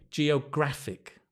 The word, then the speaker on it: geographic: or Greek based words when we change the word form to an adjective or a verb or a noun the stress the syllable stress changes say with me Geographic geography geographer Geographic often